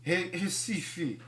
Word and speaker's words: Recife: And the first synagogue in the Americas was built in the capital, Recife. I don't get it. There's an R, but why is it pronounced like an H?